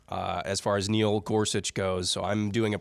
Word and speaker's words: Gorsuch: who did not and his name rhymes with nuch that would be Neil Gorsuch now we did have